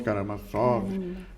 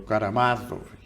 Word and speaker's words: Karamazov: poucos anos já tinha lido quase tudo irmãos Caramassov, o o Karamazov, né, como se fala, o Ah, L Tor